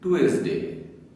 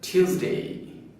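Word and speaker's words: Tuesday: Monday ব্রিটিশরা বলে Monday আমরা বলি টুয়েসডে ব্রিটিশরা বলে টিউসডে আমরা বলি ওয়েডনেস ডে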